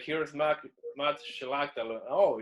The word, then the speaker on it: Szlachta: So what's the American pronunciation of your last name? Szlachta. It's the same. Yeah, you said it perfect, man.